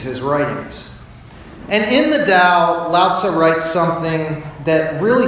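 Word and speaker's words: Tao: with the teeth not a D but it's pronounced with the dow was a short body of writings written by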